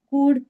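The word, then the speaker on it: could: तो ये शुड कुल्ड वुड know it is wrong. Okay. तो एल जो होता है वहां पे साइलेंट होता है। एंड द वी आर you pronouncing it ऐज़ कुड, शुड, वुड।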